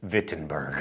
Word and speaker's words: Wittenberg: Also, let me say retroactively, now that everyone has commented on my poor German pronunciation, Wittenberg.